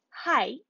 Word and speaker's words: high: How do we pronounce it? High, night, light. Very nice. We pronounce it as I again.